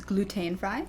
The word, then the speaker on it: glutenfrei: what are they so glutenfree in German is gluten fry gluten is just gluten